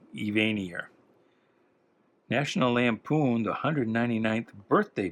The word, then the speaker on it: Evanier: But I've always pronounced it Evanier, as in he is more vain than you, Evanier.